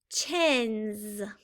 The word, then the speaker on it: chins: a z let's listen chins I would do a z because I hear the z sound at the end great job all right